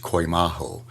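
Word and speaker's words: κοιμάω: The original Greek word used for sleep is pronounced koimaho, and it is used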